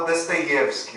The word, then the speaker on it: Dostoiévski: E o O, em russo, quando o O é átono, ele é pronunciado como A. Então, como a sílaba tônica ali é o Ye, então é por isso que eu vou falar Dostoiévski, ou se eventualmente, não